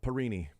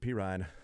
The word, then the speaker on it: Perine: Called him Perini, talking about Samaje Perine. Thank you, Joe Colin. I appreciate somebody who butchers a name just like that.